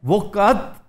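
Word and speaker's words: वक़्त: Basically है वक्त, वक्त इसका एक्चुअल प्रोनाउंसिएशन वक़त है, यानी बोला जाता है वक़त, लेकिन वक़त, वक़त इतने तरद्दद में प्रोफेसर कौन पढ़ता है?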